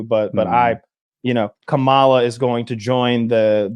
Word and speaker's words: Kamala: that's Up For Debate it's not though it's Kamala what am I saying that's different than kamales incorrect yeah it's like comma is it just like caramel and caramel mispronounced her name as